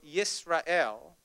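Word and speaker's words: ישראל: And Israel, pronounced in Hebrew Yisrael, literally means those who wrestle with God.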